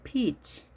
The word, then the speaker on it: peach: A peach. 두 개 이상 peaches. peaches. 자, 이 복숭아 발음을 발음겨 보시면 길게 하셔야 됩니다. 이것을 짧게 peach 하시면 되지 않습니다. 전혀 다른 뜻이 되기 때문에 길게 발음해 주십니다.